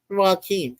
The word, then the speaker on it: Joachim: Yeah, they spell it Joachim, and it says it is pronounced Joaquin.